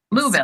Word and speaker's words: Louisville: I just It's just like tone down the I tone down the I Louisville. You don't say the I.